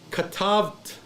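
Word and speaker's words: כָּתַבְתְּ: Both Shivas in this form are silent, okay? The word is syllabified as katavt, okay?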